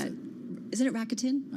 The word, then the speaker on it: Rakuten: Somebody's going to hook How do me you up with pronounce that. Isn't it Rakuten? It's Rakuten.